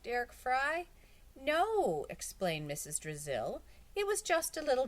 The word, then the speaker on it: Drizzle: drizzle it was just a little joke Brazil rhymes with drizzle I thought it might help you remember my name Terrence laughed Brazil Brazil